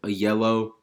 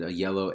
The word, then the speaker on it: Ayello: It's by Jim Ayello. That's how it's said, Ayello, Ayello.